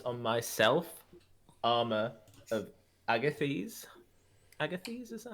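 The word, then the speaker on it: Agathys: Agathis, is that how you say it? Agathis. Agathis? Agathis. Okie doke. Uh, Boop. That's what the blue circle Or is. on you. Agathis? Lovely. It's Agathis.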